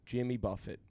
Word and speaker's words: Jimmy Buffett: And my cat's name is Jimmy Buffett, but pronounced like the eating thing.